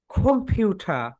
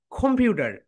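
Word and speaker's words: computer: এখন তুমি যদি আমেরিকান অ্যাকসেন্টে বলতে যাও তাহলে হবে খোম, ফিউ, ডার, কম্পিউটার। অর্থাৎ ওটা ঠিকই ডি সাউন্ড বলে। সো তোমরা ব্রিটিশটাই বলো, এটাই হচ্ছে পারফেক্ট। বলো, খোম, খোম, ফিউ, ফিউ, ঠা, কম্পিউটার, কম্পিউটার।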